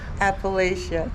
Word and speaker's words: Appalachia: the Museum of and I'm gonna say it like your sister says Appalachia it's Appalachia yeah so this Museum um